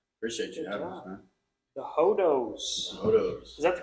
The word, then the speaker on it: Hodos: Hodos.